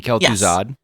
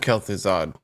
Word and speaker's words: Kel'Thuzad: I don't know how to pronounce it. Kelthos, the mage. Kelthos? I mean, Kel'Thuzad. I love. It's Kel- Yes, Okay. exactly. Oh, Kel'Thuzad.